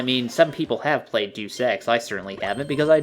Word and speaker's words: Deus Ex: Was it Deus Ex, did you say? Yeah, it was Deus Ex, sorry. No, I believe it's pronounced Deus Ex, you fucking pleb.